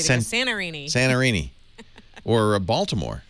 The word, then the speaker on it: Baltimore: Or Baltimore. Balmer.